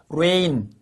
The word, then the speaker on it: reign: 그래서 여러분 G를 집어넣었는데도 불구하고 발음이 똑같아. 발음이 똑같아요. rain 똑같습니다.